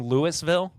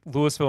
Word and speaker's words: Louisville: Since moving down to Indianapolis, I have learned that to say Louisville properly, you need to use as little consonants as possible.